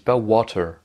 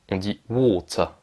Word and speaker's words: water: de l'eau en anglais, ça ne dit pas water. Ça, c'est une mauvaise prononciation. Le A, c'est un O long. On dit water. Le T, il reste un T. Le E reste un E. Et le R est muet.